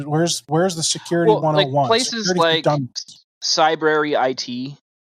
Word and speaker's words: Cybrary: where's the security 101 cybrary it like cybrary.it is uh an online learning platform can you spell that yes like it's like library but it's like cyber Cy b r a